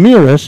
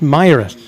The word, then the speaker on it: Miras: christi myras classic tournament i've been saying mirrors and i found out from the press box folks here that's a mispronunciation it's my rest tournament game one earlier